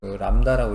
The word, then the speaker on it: 람다: 그다음에 파장은 람다라고 하는 기호를 주로 써요. 람다라고 읽어.